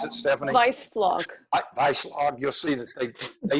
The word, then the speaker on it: Weissflog: If you'll go look at the Germans, Hans, how does he pronounce it, Stephanie? Weissflog.